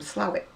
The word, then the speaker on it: Slaithwaite: if you come from it you come from slavic yeah um don't ask me why it's called